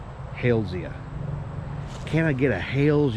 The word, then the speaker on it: Halesia: Some people pronounce it Halesia. However, the genus was named after a famous botanist with the last name Hales, so it should be more properly pronounced Halesia.